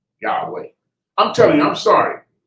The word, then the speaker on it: Yahweh: Where they're saying, ya, ha, wa. That's it. You can't say it in any other language. But when they say, what they were saying was Yahweh.